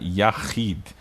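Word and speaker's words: יחיד: Depois a gente tem a Dalet com o som do D, tá? Então fica Yahid. E aqui está a sílaba tônica que eu marquei aqui, né?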